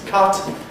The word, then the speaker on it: cut: Words such as put and words such as cut have the same v.